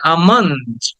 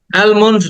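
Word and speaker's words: almond: কেটে টেনে বলতে হবে আমন্ড অ্যালমন্ড না এটাকে অনেকে অ্যালমন্ড বলে অ্যালমন্ড না এটা আমন্ড আ টাকে টেনে বলো আমান্ড আমন্ড আমন্ড এটা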